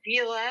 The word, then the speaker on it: Gila: Gila. I know it's hard to pronounce, so here's a tip. It rhymes with tequila.